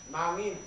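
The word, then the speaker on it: 낭인: Ryojin is Korean pronounce is Nangin.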